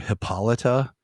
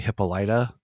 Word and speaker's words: Hippolyta: Like I've always heard Hippolyta, but then I've heard people say it's actually Hippolyta, and I'm like, that feels weird.